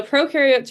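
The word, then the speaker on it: prokaryotes: my class is that pro rhymes with no there is no nucleus.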